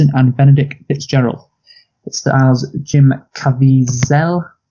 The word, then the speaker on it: Jim Caviezel: It stars Jim Caviezel. How do I pronounce this? It's Jim Caviezel.